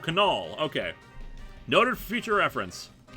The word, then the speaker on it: Knoll: Fun fact, you pronounced the K in my last name. So Knoll.